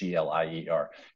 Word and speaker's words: Glier: A couple weeks ago, this singer-songwriter guy I followed for a while named Seth Glier, or Glier, I don't know how you say it. It's Glier.